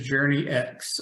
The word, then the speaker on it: Journyx: so to be clear what everybody usually says is Journey X all right and so